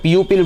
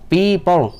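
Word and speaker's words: people: देखिए इसको लोग अक्सर प्यूपिल बोलते हैं, ये लफ्ज़ प्यूपिल नहीं होता है। इस वर्ड का सही एक्सेंट और करेक्ट प्रोनाउंसिएशन है पीपल, अगर हम अमेरिकन एक्सेंट की बात करें तो।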